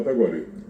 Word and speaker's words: Tacuarí: Y hay palabras que también vos decís, bueno, por ejemplo, nosotros decimos tacuarí directamente. Tacuarí. Bien pronunciado tacuarí.